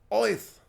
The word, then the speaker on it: Oath: no it's called oath you pronounce it with a Brooklyn accent oyth that was completely unnecessary